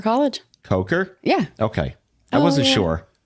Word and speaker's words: Coker: The one that sounds like it could be mispronounced. Koker College. Coker.